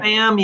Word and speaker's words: Pham: Pham? Is that how you pronounce it? P Tommy Pham? Yeah. Pham, yeah.